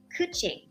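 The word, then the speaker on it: Qiqi: Kuching.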